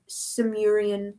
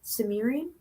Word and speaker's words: Sumerian: scrolls uh writing and ancient sami samurian language is that how you say it sumerian i think that's right spell it s-e-m-u-r-i-a-n sumerian